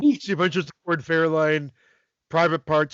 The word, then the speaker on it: Fairlane: Both times he called it Ford Fairline. Fairlane?